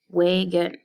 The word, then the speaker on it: wagon: When I read the second syllable with its long O vowel sound, which is O, wagon, that does not sound right either. So instead, I stress the first syllable, and the second syllable becomes a little bit of the